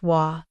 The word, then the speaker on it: は: It is the most neutral and commonly used way to say “I” in polite Japanese. は is the topic particle, pronounced “wa”.